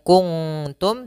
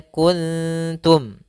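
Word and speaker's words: كنتم: Maka di sini bukan kuntum, tapi dia kuntum. Ya, suara nunnya disamarkan kepada huruf ta.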